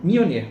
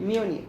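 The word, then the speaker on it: Mjölnir: Mjolnir. Mjolnir. Se escreve a pronúncia Mjolnir, mas se escreve MJOLNIR.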